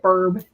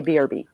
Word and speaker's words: BRB: Spence says she says BRB out loud, but pronounces it burb. I don't say burb because burbs are like little cheapy things, like that go cheep, cheep, cheep. So I say BRB or AFK.